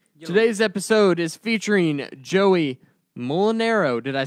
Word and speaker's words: Mulinaro: Today's episode is featuring Joey Mulinaro.